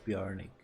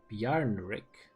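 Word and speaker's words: Bjarnrik: new and interesting about bjornik unlike the other nations i just seem to be doing too well yarn rick i was pronouncing it the wrong way the entire time quick look at new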